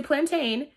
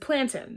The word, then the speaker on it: plantain: So and yes, I did not say plantain. I said plantain. That's how it's said in the island, okay?